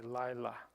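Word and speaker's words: לילה: That's that AI, lila.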